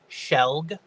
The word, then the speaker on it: shelg: So the pronunciation of the word is shelg.